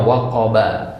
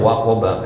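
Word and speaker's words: وَقَبَ: artinya apabila waqab ya asal katanya waqoba ya tapi karena waqaf jadinya waqob ya ya sebenarnya waqoba jadi kalau kita mau lanjut ke ayat selanjutnya waqoba bacanya nah waqoba artinya menjadi gelap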